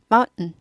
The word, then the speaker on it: mountain: Anyway, 어쨌든 간에 mountain 하셔도 좋지만 더 고급 발음하고 싶다 하면 mountain 하고 딱 끊고 mountain. mountain, mountain, mountain, mountain, mountain 이렇게 되죠? mountain, mountain, mountain, mountain 하는데요.